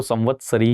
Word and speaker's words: संवत्सरी: संवत्सरी, संवत्सरी, संवत्सरी, कई लोग अलग अलग प्रोनाउंसिएशन करते हैं, मैं तो इसको संवत्सरी ही बोलता हूं, ठीक है।